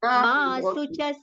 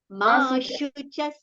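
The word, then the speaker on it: मा शुचः: Now ma suchas, it is not sucha. It is shu. Shabri wala sha. Talavya sha. Ma shuchas sampadan.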